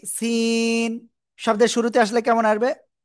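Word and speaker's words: سين: কেউ একজন আপনাদের মধ্যে উচ্চারণ করতেছে শিন, শিন না, সিন, এমন উচ্চারণ হবে, হ্যাঁ।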